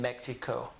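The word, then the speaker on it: México: Thus, when we pronounce the name of this word in Spanish, what do the Spanish people call this? Mexico. Mexico. The reason they say Mexico is because this is a Indian word.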